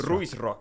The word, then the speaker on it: Ruisrock: Ruisrock, yes.